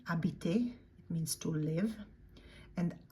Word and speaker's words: habiter: Habiter, that H is silent, as in almost all cases, when H is at the beginning. Habiter, it means to live.